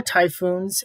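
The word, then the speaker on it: 台風: miles per hour now japanese it's pronounced typhoo so you can pretty much see the resemblance of um typhoon and typhoo uh now there's no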